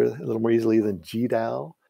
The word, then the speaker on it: GDAL: little more easily than g dao and it was the original pronunciation if you asked the uh the founder of the google project how he pronounced uh goodl he would for many years say google um and then when